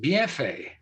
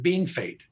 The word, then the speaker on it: Bienfait: North Dakota border, called Bienfait, Bienfait, Bienfait. French. But the locals have always called it Bean Fate. That's the way they pronounce it.